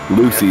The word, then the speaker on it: Luzie: So we call her Lucy. Yeah, because our puppy, the new puppy, we call Lucy. So we spell it Luzie.